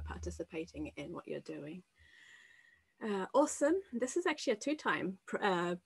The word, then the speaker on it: OSUM: Awesome. This is actually a two-time project, and it has the best acronym just because you pronounce it awesome.